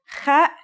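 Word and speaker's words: خ: Kha is a sound some people make when they laugh. It's also similar to the sound people make when they snore. According to phonetic charts, Ha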